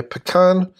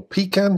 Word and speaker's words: pecan: There's a planned development here on the pecan, to use the American pronunciation, or pecan, to use the pronunciation where I come from.